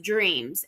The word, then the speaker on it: DRMZ: in San Diego called DRMZ, pronounced Dreams, and they are actually